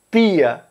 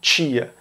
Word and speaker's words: tia: A primeira é a palavra tia, que todos fazem a palatalização dessa palavra, então da letra T, pronunciada como ch, porque tem uma letra I depois, exceto Pernambuco, que em Pernambuco nunca ocorre essa palatalização, então fala tia e não tia. Eles usam o T duro.